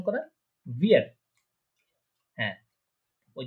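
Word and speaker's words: wir: তারপরে ভিয়ার, এটা কি উইয়ার না, এটা হচ্ছে ভিয়ার, ভিয়ার, ভিয়ার প্রনাউন্সিয়েশন করা ভিয়ার।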